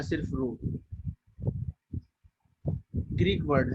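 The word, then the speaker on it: rho: हाँ रो या सिर्फ रो ग्रीक वर्ड है. PHRO रो पढ़ते हैं इसको. रो पी साइलेंट है इसका.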